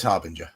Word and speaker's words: harbinger: Because you have a ringer and a bringer and a singer, Yeah. but you also have a ginger. Yeah. And you can have a singer. Ginger. Yeah. Yeah, it is soft G.